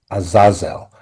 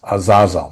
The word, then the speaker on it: Azazel: It was on Azazel, and it's pronounced Azazel, not Azazel. Azazel. But as opposed to the horrible Denzel movie, which pronounced it as Azazel, and that has always gotten under my skin.